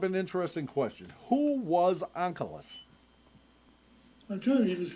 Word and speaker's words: Onkelos: The accent is on the Aleph, the last syllable, and it is rendered by Targum Onkelos as Atiyah, is coming in the present tense.